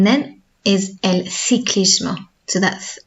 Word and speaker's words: el ciclismo: If you said el ciclismo, that's still correct. That's more of a South American pronunciation of Spanish, or certain regions of Spain will say el ciclismo. So that's why you will hear in music charts, the pronunciation will sound slightly different. So in Spain, for example, that famous song before in Spanish, that was Despacito. In Spain, they wouldn't pronounce it Despacito. Okay, that th sound.